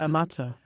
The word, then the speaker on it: Ammazza: Ammazza. Ammazza.